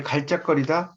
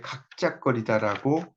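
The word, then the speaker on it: 갉작거리다: 이것도 이제 그 뒤에 작거리다가 나왔을 때는 요 갈짝거리다라고 발음할 것 같지만 앞에 있는 리을이 떨어져 나가요.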